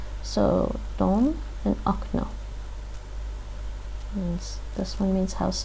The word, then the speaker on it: окно: In the word okno, window, we pronounce the second O, which is stressed like O, while the first O is shorter and becomes A.